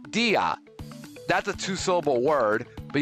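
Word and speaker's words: día: However, dia dia is uh two syllables. D a and you put the accent on the I to separate the vowels.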